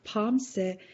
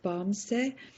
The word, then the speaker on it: bumse: they did, that is when you say bumse, you often, instead of that B sound, you often make a P sound, and that's really common for people to do that, to have a P sound at the end, pomse instead of bumse.